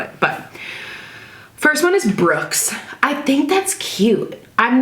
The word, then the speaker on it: Brooks: Having Brooks, not Brooke, but Brooks, Brooks, not like the girl version of how it's spelled.